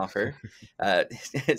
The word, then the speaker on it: Stouffer: We have, I get it right this time, Stouffer, spelled Stouffer, pronounced yeah. Stouffer.